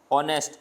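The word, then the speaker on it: honest: इज एन ऑनेस्ट person ऑनेस्ट ऑनेस्ट में एच है लेकिन साउंड कैसा है वल साउंड है इसलिए यहां पर क्या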